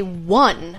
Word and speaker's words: one: example the number one it's spelled like own you know like like bone or phone or alone but like you you say one what that doesn't make